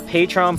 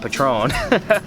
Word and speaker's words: Patreon: We are working on a Patreon pledge. I think that's what you call it. Is that how you pronounce it? Patreon? Patreon? It's definitely not Patron. That's a drink. That's a bad drink that gets me in trouble.